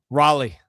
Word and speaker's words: Raleigh: Ended up being I believe Hold on, hold on before I'm before people get on you for the pronunciation. Raleigh. Raleigh.